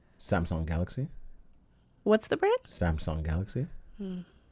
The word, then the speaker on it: Samsung: Samsung Galaxy. The first 2 times you said Samsung. I always say Samsung. It's sung. I know. There's a U.